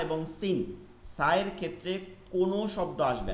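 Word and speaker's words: س: আর এটাও একই, জিব্বার আগা সামনের উপর দুই দাঁতের আগা সা, আবার জিব্বার আগা সামনে নিচে দুই দাঁতের আগা সিন।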